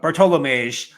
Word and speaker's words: Bartłomiej: How do you say the first name, Gumby? Bartłomiej. Bartłomiej. Yeah, the O I forgot. Bartłomiej.